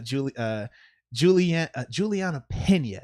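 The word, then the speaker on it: Julianna Peña: And then Amanda Nunes, she's fighting as well versus Juliana Pena.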